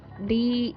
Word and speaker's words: data: Now the next one in the list is DATA.